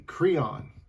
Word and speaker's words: Creon: That is the Creon. I think that's the way it's pronounced.